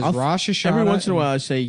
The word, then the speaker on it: Rosh Hashanah: was about to be Rosh Hashanah dinner with my parents. Rosh Hashanah. Why do you have to say it like that?